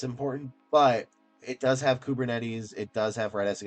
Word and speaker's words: Kubernetes: Then reduced failures by 40% in Scala-based microservices on Google Cloud's Kubernetes, that is how you say it, using Redis, Kafka, BigQuery, and Argo CD deployment with GitHub repositories.